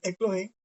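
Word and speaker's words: ἐκλογήν: Este sería la pronunciación aproximada del término eclogen.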